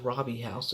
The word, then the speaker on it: Robie House: kind of school the Robie house these fingers pronounced Robbie house it's my name Rob nice design I don't